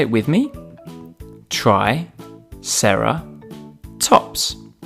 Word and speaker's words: triceratops: us today triceratops try sarah tops can you say it with me try sarah tops let's learn all about triceratops